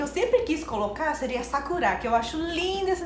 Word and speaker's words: Sakura: Brasil, eu vi que todo mundo se pronuncia Sakura, tipo uma Sakura. Errada. É, fala Sakura. E aí eu pensei, daí minha filha, tipo, vai ter o nome Sakura, daí ela vai falar pros amigos, é Sakura, tu não vai chamar de Sakura. Ô Sakura, daí ela vai ter que sempre falar, não é Sakura, é Sakura.